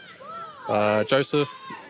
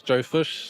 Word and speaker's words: Joseph: Yeah, when I was younger, Joseph would get mispronounced as Joe Fish, so slowly worked its way to being just Fish.